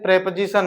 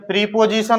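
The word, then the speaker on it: preposition: बस, क्योंकि कुछ इंपॉर्टेंट प्रेपोजिशन है, फिक्स प्रेपोजिशन के नाम से पढ़ते हैं उनको, फिक्स्ड प्रेपोजिशन, ठीक है। प्रीपोजिशन उच्चारण नहीं होता, उच्चारण क्या है, प्रेपोजिशन, तो फिक्स्ड प्रेपोजिशन में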